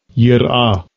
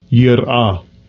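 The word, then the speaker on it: יִרְאָה: Here's the pronunciation. Strong's H3374. Yirah. Yirah.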